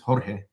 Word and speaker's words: Jorge: he has my name his name is Jorge that's how you say my name but I tell people